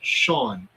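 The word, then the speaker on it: Sean: For anybody who wonders, my name is pronounced Shawn.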